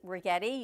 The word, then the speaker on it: Rigetti: So big thank you to Rigetti. You can never forget her name because she told us it rhymes with spaghetti.